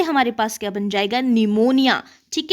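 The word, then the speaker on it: pneumonia: निमोनिया। ठीक है? तो यहां पे निमोनिया की स्पेलिंग मैक्सिमम जो है वो एन से लिखते हैं।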